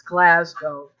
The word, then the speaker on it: Glasgow: I know I think you never do the ow the ow is bad it's Glasgow I can't speak English